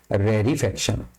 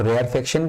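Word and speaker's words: rarefaction: जाता है रेरी फक्शन तो हम लोग क्या प्रोनाउंस कर रहे हैं एक हो गया आपका कंप्रेशन और एक हो गया हम लोग का रेरी फक्शन इसको बहुत जगह में हम लोग रेयर फक्शन भी बोलते हैं बट करेक्ट प्रोसेशन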